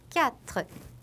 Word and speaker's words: quatre: 예를 들어 보면 quatre, qui, quoi 우리가 봤던 이 알파벳 Q 같은 경우에는 단어 앞에 오게 되면 항상 이 모음 ü하고 같이 나오게 돼요. 근데 이때에는 이 모음 ü는 발음을 하지 않는다고 생각하시면 돼요. 그래서 바로 뒤에 이어 나오는 발음이랑 합쳐주시면 돼요. 그렇기 때문에 quatre, qui, quoi. 우리 아까 봤었죠? 으와 발음 나는 거. 이렇게 발음하시면 되고요.